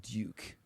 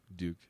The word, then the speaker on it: duke: the duke it's pronounced duke duke yes a liquid u it is liquid oh